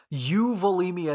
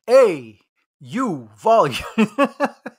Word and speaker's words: euvolemia: So euvolemia is not like A-U volume. So this is spelled E-U volumic.